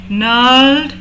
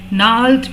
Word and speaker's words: gnarled: Fathers gnarled disease. यहाँ पर जी silent है। gnarled means गांठदार, rough.